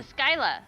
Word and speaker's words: Scylla: Oh, it's a Skyla.